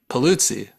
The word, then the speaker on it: Paluzzi: You always pronounce my last name so authentically. I love it. Paluzzi. Yeah, I don't even pronounce it like that. It's great. Is that correct? It's absolutely correct.